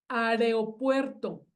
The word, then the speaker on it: aeropuerto: Claro, Aeropuerto es lo correcto. ok. Pero hay gente que dice aeropuerto, Ah, invertida la R y la E, ok, aeropuerto, ok. que a mí hasta se me dificulta pronunciarlo así, o sea, tengo que pensar para decirlo mal.